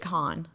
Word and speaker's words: Cannes: Oh, it's not Cannes. I knew it. It's Cannes. I looked it up. It's Cannes. Oh, really? Yeah, because I was so worried about mispronouncing it that I looked up how to pronounce it on Google, and then I still mispronounced it. Interesting, because my ex, they pronounced it con.